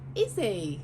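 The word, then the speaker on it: Isi: She is called Izzy. Isn't she lovely? But it's spelled I-S-I.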